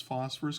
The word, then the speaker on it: phosphor: root word when it's phosphorus containing i don't just stop there remember the root word for phosphorus containing anions is phosphor it has two syllables so there's the root